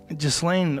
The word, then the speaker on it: Ghislaine: How do you say her name? Ghislaine. I thought it was just Lane.